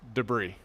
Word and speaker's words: debris: Henry and said buddy your word choice awesome but it's actually pronounced debris Henry I appreciate you